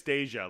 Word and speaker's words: Deja: Andreas Deja, like Thank Deja you. Vu.